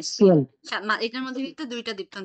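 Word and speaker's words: Spiel: তারপর এস পে যখন সংযুক্ত থাকবে এসটা স এর মতো উচ্চারণ হবে, তাহলে এটার উচ্চারণ কি হবে, হ্যাঁ, স্পিল।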